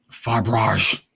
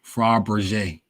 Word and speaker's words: Fabergé: Usually Roman Fabrage being pronounced Fabergé.